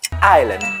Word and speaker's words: island: rồi nó là variety từ này Island đừng đọc là Iceland nhá Island còn từ này thì